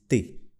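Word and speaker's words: tes: For ton à ta, the plural form of ton and ta is te. Te. Can you repeat? Te. Okay, so the S is silent.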